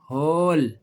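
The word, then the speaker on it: whole: अब वो कह रहा है कि अगर डब्ल्यू के बाद एच आ जाए। क्या आ जाए? एच या फिर आर आ जाए। एच या आर आ जाए तो फिर क्या करना है? फिर डब्ल्यू साइलेंट हो गया। क्या लफ्ज है ये? हु होल। ठीक है बच्चों?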